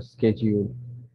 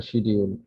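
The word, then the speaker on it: schedule: শিডিউল ওয়ার্ডটা এক একজন এক এক ভাবে উচ্চারণ করে, কতজন বলে স্কেজিউল, কতজন বলে শিডিউল।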